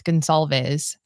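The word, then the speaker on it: Goncalves: I always say her last name wrong. It's Gonzalez.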